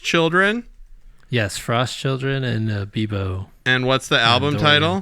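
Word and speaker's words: Bibo: It would be Bebo. Bebo. Yeah. Like Bimbo bread, but without the M. And you said it was Frost Children? Yes, Frost Children and Bebo.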